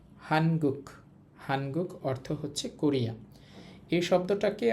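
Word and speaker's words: 한국: তো সর্বশেষ যে দেশের নামটা ছিল সেটা হচ্ছে হান গুক। হানগুক। হানগুক অর্থ হচ্ছে কোরিয়া।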